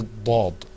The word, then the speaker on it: ض: Now, let's move on to the next letter, which you're going to see, inshallah, coming up on your screen, the Dad. Okay, let's pronounce that letter together, too.